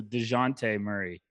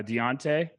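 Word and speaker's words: Dejounte Murray: and said i need to stop pronouncing his name wrong so dejante murray i'm sorry what were you pronouncing it uh deontay what is your thing with these pronunciations i've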